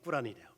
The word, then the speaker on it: 꾸란: 있어요 그렇습니다 이슬람교는 코란이 코란을 다른 말 본토 발음으로 람 그래 꾸란이 이슬람이 말은 알라시 복종하라